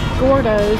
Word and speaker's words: Gourdough's: the donut out here this is Gordo but it's spelled g o u r d o u g HS very cool I guess